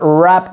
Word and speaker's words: wrap: El verb wrap vol dir embolicar. Totes les paraules que comencen amb WR, la W no es pronuncia.